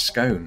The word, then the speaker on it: scone: see the other precedents, whereas like gone, like bone. You know, we can have that debate in the comments. Please do. For me, it rhymes with bone.